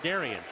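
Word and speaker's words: Derrin: You'd think that's Darren, yeah, right? You nope, would. Nope, but he pronounces it Darian.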